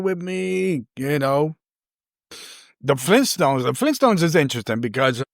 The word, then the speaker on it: Flintstones: Flynn but it's actually flint stones. So it's f l i n t s t o n. You know people forget about that first t the flintstones but it's actually the flint stones.